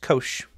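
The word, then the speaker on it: cosh: Define the hyperbolic functions hyperbolic cosine pronounced Kosh is the x coordinate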